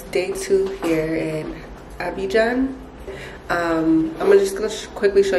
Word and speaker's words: Abidjan: Abidjan.